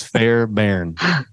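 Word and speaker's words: Fairbairn: name of Bruce Fairbury that's a tricky name because it's fair Barren that's you sure that's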